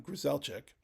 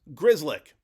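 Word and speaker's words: Grzelcyk: talking about the guy that I kept calling Griselic. The way to pronounce it is Grizzlick.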